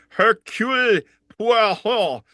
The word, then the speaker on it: Hercule Poirot: Hercule Poirot, the Agatha Christie, right?